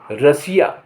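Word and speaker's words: Russia: माने महल आर U double S आई ए रशिया रशिया माने रूस टी के उच्चारण टी के स्थिति के हिसाब से यह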